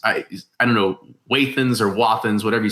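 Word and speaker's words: Wathen's: Yeah, I've met a guy who's an artist, and he's like a third generation non-distiller, and he pronounces it Wathans. So I go with Wathan.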